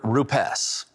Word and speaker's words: Rupes: When you hear the word Rupes, and by the way, that is the correct way to pronounce the name, the first thing that comes